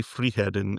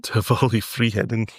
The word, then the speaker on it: Friheden: Tivoli Friheden. Do not pronounce the D at all. No. Oh, okay. Yeah. Tivoli Friheden.